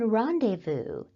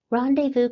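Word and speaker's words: rendezvous: from other languages and this word is borrowed from French we can meet up at the Student Union at 300 p.m. we can rendevu at the Student Union at 300 p.m. r Vu can also be used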